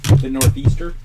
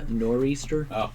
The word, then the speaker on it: nor'easter: show say not even what do you say northeaster yeah I believe it's pronounced nor'easter okay that's a real